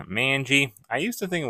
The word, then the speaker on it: Manji: San I mean San San Francisco man obviously is how you say man so I don't know why I thought it was mangi like thinking the a is an O but oh well anyways